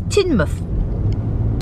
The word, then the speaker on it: Teignmouth: the right pronunciation for this place cuz it's spelled like th mouth it's not it's tinmouth grand old houses here we have been here